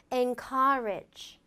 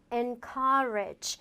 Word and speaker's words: encourage: encourage encourage. 그래서 n은 좀 내려주시고 courage는 좀 올리면서 길게 발음을 해주라라는 포인트 잊지 마세요.